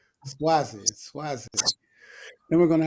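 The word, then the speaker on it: Suozzi: swazi I had to look up how to pronounce the name swazi SW then we're going to have a ceasefire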